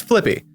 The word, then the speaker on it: Flippi: of Flippi Boehm, whose name I think I mispronounce it every time I try to say it, but it's Flippi.